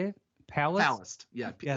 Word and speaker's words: Palast: Palast. Yeah. Yes. Like it's Palast, but it sounds like an EST.